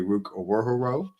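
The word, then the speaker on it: Ruke Orhorhoro: I'll start off this pick with one of my guys, specifically Rook Owohoro. I believe that's how you say it, but I'm not.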